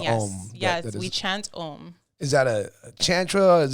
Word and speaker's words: Om: So Om as in O-M, Om. Pronounce it right, Om.